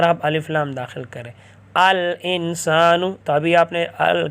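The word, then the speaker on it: الإنسان: قمریہ میں سے ہے، تو اس لیے یہاں الانسان الف لام کا تلفظ کریں گے۔ بیتن گھر، اس پر آپ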